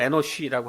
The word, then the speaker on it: 에노스: 그리고 그 아들의 이름을 에노스라고 짚습니다. 영어 발음을 에노쉬라고 하는데이 이름에도 놀라운 세세 고백이